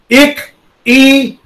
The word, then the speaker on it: Ikigai: Ikigai. The word is pronounced as ikigai.